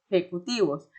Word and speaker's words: ejecutivos: Recordando o notando que la pronunciación de la J en español no es como en portugués, que normalmente en portugués es ya, ye, yi, yo, yo. En español no es así. En español sería ha, he, hi, ho, hu.